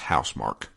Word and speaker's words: Housemarque: Apparently it's pronounced Housemarque.